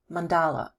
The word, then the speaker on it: mandala: mandala also pronounced mandala what is a mandala